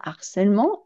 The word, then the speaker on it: harcèlement: C'est-à-dire que ce H ne se prononce pas, mais il interdit de faire la liaison.